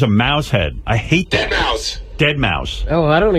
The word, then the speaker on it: deadmau5: Mouse it's it's a dead mouse and he spells it it's so weird cuz it's spelled dead and it's m auau and then the number five and all he does